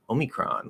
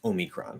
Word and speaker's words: omicron: we saw this word we wouldn't know should you pronounce it o or should you pronounce it ah we would have no